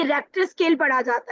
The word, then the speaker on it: Richter: मजे की बात है कि इसकी स्पेलिंग भी बहुत ज्यादा स्पेलिंग कॉमटीशन में पूछी जाती है। ये रिचर स्केल पढ़ा पढ़ा नहीं जाता। ये रेक्टर स्केल पढ़ा जाता है।